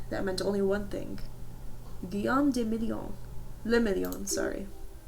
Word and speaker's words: Guillaume de Million: Guillaume de Million. Le Million, sorry. If that doesn't rhyme, you're not pronouncing it right.